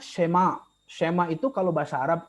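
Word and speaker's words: שמע: Jadi ini dibacanya Shema.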